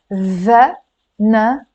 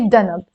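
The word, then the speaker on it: ذنب: Dhanab, dhanab. But in Lebanese, you can pronounce this dhal as a d instead of a this, that, those. So you can say danab.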